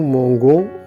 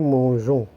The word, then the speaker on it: mangeons: présent de l'indicatif et pour ne pas prononcer nous Mango on a ajouté un e devant la terminaison ainsi on aura une prononciation correcte nous mangeons les verbes de type